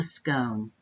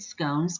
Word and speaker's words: scone: ireland or southern england pronounce it as scone to rhyme with stone if you just so